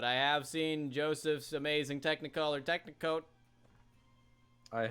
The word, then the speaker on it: Technicolor: Joseph's amazing Technicolor Dreamcoat. Okay, I knew there was another Joseph and syllable the in amazing there. Technicolor. I knew there was another syllable in there.